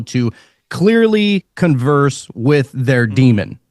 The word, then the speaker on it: daemon: So you would have a daemon, or it's spelled daemon, but it's pronounced demon. It's Daemon.